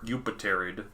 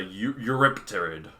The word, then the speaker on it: Eurypterid: Or just a scorpion in general, but it really looks like scorpion, a eupterid. Yeah. However you pronounce it. What is it? Where I have one up. It's a Eurypterid. Eurypterid, that's the term.